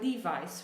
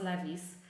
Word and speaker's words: Levi's: um like for example Levi's right it should not be pronounced levies um because it's an American company and this is how they pronounce it in the States but we put our